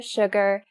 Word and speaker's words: Suga: I first, when I saw the Korean name Suga, I thought it's sugar. But it's not sugar, it's just Suga.